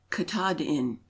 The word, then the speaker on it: Katahdin: agni Etna is Mountain the Penobscot Indians pronounce it Katahdin a short the pass of mcquoddys